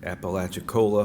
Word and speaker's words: Apalachicola: from furman his first job after college was apollo chicola i think i said it right apalachicola high in apalachicola florida for two seasons where